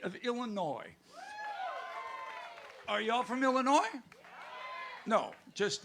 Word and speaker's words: Illinois: Are y'all from Illinois? No, just like the word, how it sounds, Illinois. The S is silent, as he's known.